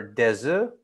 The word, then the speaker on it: œufs: Okay, des œufs, many eggs, right? Plural. So we don't pronounce the FS for des œufs, but you do un œuf.